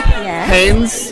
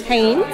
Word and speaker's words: Haynes: i'm here with haynes haynes haynes but not spelt like the underwear pronounced the same but spelled differently but jess is big